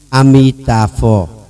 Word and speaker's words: Amitabha: Đây nè, cách phát âm Amitabha.